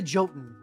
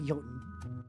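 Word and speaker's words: jötunn: they were they showed the joten y sorry yoten I understand that there's like a proper way to say Viking words but I was raised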